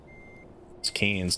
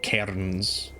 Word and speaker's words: Cairns: good good yes Americans trying to say canes cans not Cairns and and um Melbourne yes for our American